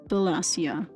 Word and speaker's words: Wallachia: Wallachia is pronounced Wallachia.